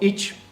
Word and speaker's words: ichi: you pronounce those words so each sounds like each in English that's number one number